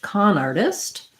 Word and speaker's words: con artist: at that so khan in this word the letter o says the ah sound um so you might think of it as kind of a k h k a h your n like khan the wrath of khan con artist has we